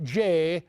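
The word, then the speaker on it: Jeh: securing this technology secretary Jay rhymes with may Johnson says this quoting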